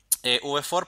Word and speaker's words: v-for: for en este caso así se escribe la letra se pronuncia v v for para a recorrer listas